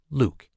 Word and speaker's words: LIWC: In 3 years, we finally rolled out the first version of a computer program we called Linguistic Inquiry and Word Count, or LIWC, pronounced Luke.